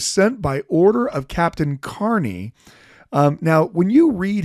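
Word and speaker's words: Kearney: r NE Y and so you'll think it's Kerney because that's how it should be pronounced but um the way that that name is usually pronounced with when there's a lot of Irish in America is actually Carney and one way that we know that that's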